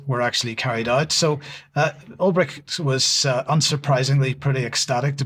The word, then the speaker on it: Ulbricht: This follows the executive order releasing the Silk Road founder, Ross Ulbricht, is that how you pronounce his name? Yep. Ulbricht was convicted in 2015 of involvement in narcotics and money laundering.